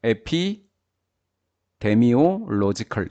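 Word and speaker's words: epidemiological: 인간의 역학 조사입니다 피 에피 데미오 로지컬이라고 읽어야 되네요 에피 데미오 로지컬 이렇게 읽어야 돼요 세 단어가 합쳐져 있네요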